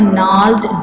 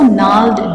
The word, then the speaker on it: gnarled: Okay, he got a deformed body from his father, and also gnarled disease. Gnarled. How to pronounce this word? Gnarled. G is silent.